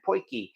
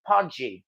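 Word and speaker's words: potjie: to I mean the spelling looks like it's pronounced Podi p o t j i e and at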